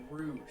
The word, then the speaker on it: Rouge: Dude, I do hate that they call it a rogue school. I wish that they... And so I... it's Rouge. Rouge. You've been pronouncing it wrong.